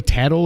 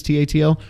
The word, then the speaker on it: Tatl: And as soon as my little fairy, by the way, Tattle or whatever you say his name is, Tatl, so much better than Navi because he's not, hey, listen.